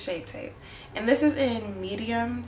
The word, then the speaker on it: Shape Tape: just using my tart I always get this name wrong shape tape I always say tape shape but like it's yeah it's shape tape and this is in